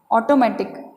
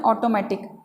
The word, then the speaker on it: automatic: हम इसे अक्सर बोलते हैं ऑटोमेटिक, लेकिन इसका उच्चारण क्या हो रहेगा? ऑटोमैटिक। देखिए ये ऑ की ध्वनि है, ऑ का सिंबल है, ये ट और ये ऊपर वर्ड स्ट्रेस है, तो ऑटोमैटिक, ऑटोमैटिक एक साथ बोलेंगे तो ऑटोमैटिक, ओके।